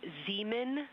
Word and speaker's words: Zeeman: We believe that that is Zeeman crater. Zeeman, okay. Now, can you say the first letter? I may be pronouncing that wrong.